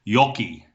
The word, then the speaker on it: Joki: And let me correct my pronunciation here. It's Joki East. Is that correct? Because close the first time, unfortunately, Gerardo. It was Yoki. Yoki, I had it.